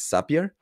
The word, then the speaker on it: Zapier: Well, I think that the right way to say it is Zapier.